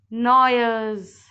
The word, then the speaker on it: gnawers: These animals gnaw their food, so that's why they are known as gnawers. The spelling of gnawers is Gnawers. Here G is silent, so we spell it gnawers.